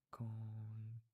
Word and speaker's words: conhece: Yeah, like the when you have N and H next to each other, or I guess anything with like the syllable and then like H, it becomes like a Y. So conhece or mulher.